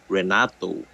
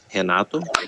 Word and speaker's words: Renato: and in English many many Americans pronounce it as Renato but in Portuguese it's henato but to say um